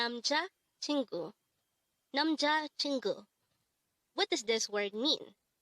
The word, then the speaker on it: 남자친구: only here at day hangle word number 286 nam chingu nam chingu this word is composed of four syllables Nam Chu pronounce it with me nam